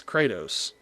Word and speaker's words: Kratos: It's Kratos. Kratos. You're like adding an extra syllable in the middle of his I'm not name.